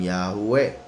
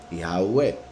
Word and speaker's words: Yahweh: Y se pronuncian Yahweh como 4 vocales, I, A, U, E, Yahweh. La Hei le da un poco de sonido como de una J muy suave, pero en sí Yosefo